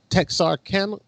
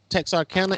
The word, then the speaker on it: Texarkana: Texarkana? That's how you say it. Texarkana area Yeah, where they Texas.